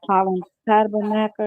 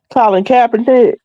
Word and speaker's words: Colin Kaepernick: This did the autopsy on the guy that Colin Tabernacle, I guess how you pronounce his name. Last year, September. How you pronounce his name? Colin Kaepernick.